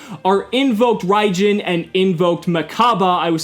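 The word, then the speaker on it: Mechaba: invoked ryen and invoked maaba I was saying meraba that's the Japanese pronunciation but invoked maaba so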